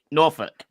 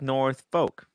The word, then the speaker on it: Norfolk: pronounced norfolk not norfolk norfolk i thought it was like north folk no well it looks like yeah they're great but it's norfolk it's a place in it's a place in england norfolk north norfolk norfolk